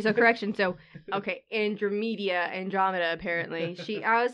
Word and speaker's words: Andromeda: Also, did you just say Andrew Media? Andrew Media? Am I pronouncing that incorrectly?